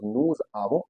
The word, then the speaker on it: nous avons: Whenever the word ends with ons, the pronunciation is on. That's why it becomes nous avons. Again, avons. After avons, there is nothing, so s is silent. That's why nous avons.